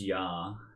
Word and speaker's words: Jahres: Did I say it wrong? It's just Yar.